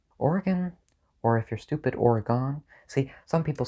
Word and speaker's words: Oregon: No, some words are pronounced differently in different accents, but Oregon isn't one of them. Oregon is Oregon no matter what accent you say it in. If you say Oregon, you're just wrong.